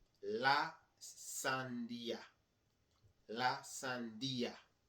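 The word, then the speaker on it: sandía: Watermelon is la sandia. La sandia. La sandia. There's an accent in that I.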